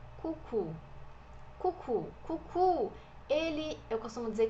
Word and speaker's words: coucou: Aqui a gente tem o OU, então é o som de U.